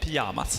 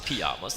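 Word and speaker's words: Pyjamas: in in pamas uh pamas is how to pronounce it in Sweden yeah pamas pamas there we go my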